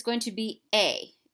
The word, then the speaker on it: he: it's going to be a H E a you have is going to be us now remember as you pronounce these things the H is silent so a us L